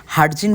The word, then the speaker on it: Hardinge: উচ্চারণে এটি হারজিন ব্রিজ হলেও স্থানীয়রা এটিকে হার্ডিং ব্রিজ নামেই চিনে।